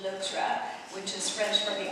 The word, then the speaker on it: Loutre: Loutre, which actually should be pronounced Loutre, which is French for the otter.